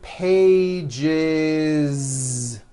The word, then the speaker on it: pages: that voiced z two pages it's not two pages unvoiced no it's two pages with a voiced Z even though you spell the word like this in American English you